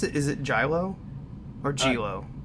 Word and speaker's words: giallo: pronounce it is it jello or jello I always say giallo Jia whoa but I think the the ELLs are wise so it's like GI o or some but I